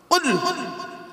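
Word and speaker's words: قل: কুল নয়, কুল। উচ্চারণটা ঠিক করে বলুন। কয় হস্যউলা কুল, কয় বয় হস্যউলা কুল। দুটো কুলের মধ্যে পার্থক্য আছে। কওয়ালা ইয়াকুলু থেকে কুল মানে বলো, আকালা ইয়াকুলু থেকে কুল মানে গেলো বা খাও।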